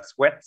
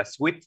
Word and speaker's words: sweat: Chúng ta đọc cái mồ hôi đọc là sweat, nên các bạn mình không đọc là sweet. Sweet là ra là kẹo ngọt thôi, mới là sweet, còn sweat nó không có ngọt nổi đâu nha.